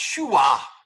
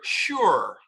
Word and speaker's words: sure: words all right now ours this is not pronounced shuwa this is not here this is not near all right again here near sure now again i realize